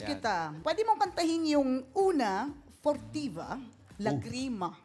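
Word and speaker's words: Una furtiva lagrima: Pwede mong kantahin yung una fortiva lagrima. Okay po. Tama ba yung pronunciation ko? Tama po.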